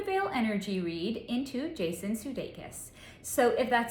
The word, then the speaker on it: Sudeikis: So Jason, I don't know if I'm pronouncing his last name correctly, I think it's pronounced Sudeikis, is an American actor and comedian.